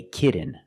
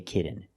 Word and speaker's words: kitten: kitten but don't say kitten I cannot pronounce these T's as a fast D I cannot say a kitten it's kitten or more commonly kitten no